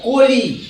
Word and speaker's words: কলি: কি রয়েছে হ্রস্বই রয়েছে তাহলে সেক্ষেত্রে উচ্চারণটা হবে ও উচ্চারণটা অবশ্যই হবে কলি নয় কলি উচ্চারণটা কি হবে এর উচ্চারণ হবে কলি আমরা লিখবো এটা আর